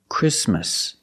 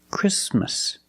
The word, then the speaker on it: Christmas: we don't say Christmas the t is between consonants so it is silent link the sound s with the m christm Christmas Christmas and it's not only